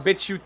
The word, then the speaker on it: BitChute: We're doing better on BitChute than we've ever done on YouTube. Yeah, and BitChute. Yeah, we know. Yeah, we know what you're thinking. We know what you're thinking. It's pronounced bitch, ute.